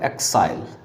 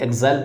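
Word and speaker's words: exile: इसके बाद जो नेक्स्ट है वो है आपका एक्साइल। इसी को कुछ व्यक्ति एग्जाइल पढ़ते हैं।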